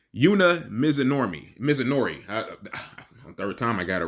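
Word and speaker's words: Yuna Mizumori: I butchered that lady's name. Yuna Mizunori.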